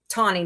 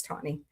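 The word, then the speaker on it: Tawny: Um Tonnie. Sorry, Tony. I always say your name wrong. Please don't hurt me. It's Tony.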